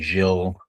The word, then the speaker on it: Gilles: I've heard it every possible way to be pronounced. Now, what's the correct way? Uh, in English, people usually say jil.